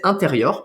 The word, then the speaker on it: intérieur: mettre le mot anglo-saxon on le prononce à la française intérieur parce qu'en fait intérieur